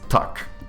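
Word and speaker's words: tak: Yes, in Swed as far as I'm aware in in Polish, the way you say yes is tuck, isn't it?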